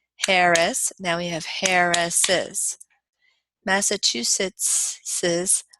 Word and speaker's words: Massachusetts's: now we have Harris's Massachusetts's weather can be frosty massachusetts's you added one syllable there Jones I do not